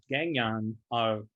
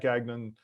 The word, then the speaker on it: Gagnon: is it's a French name, and so that's the French pronunciation.